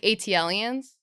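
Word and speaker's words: ATLiens: It's funny because you say AT-lians. Yes. Yeah. It's ATLians. Yeah. That's Oh. what they say. I pronounce at-lians. yeah, I that's did wrong. too, Yeah. but yeah, it's wrong. Yeah. Because they're from Atlanta. Oh, that's why it's AT.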